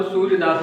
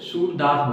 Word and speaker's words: सूरदास: तो बहुत लोग सूरदास को सूर्यदास ही बोलते हैं, तो इनका असल में जो प्रोनाउंसिएशन है, अगर बोल के इनको बोला है तो इनको सूरदास बोलते हैं।